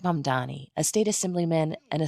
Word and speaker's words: Mamdani: and younger progressives like Mom Donnie, a state assemblyman and a self-described Democratic socialist. The name is Mom Donnie. M A M D A N I. You should learn how to say it.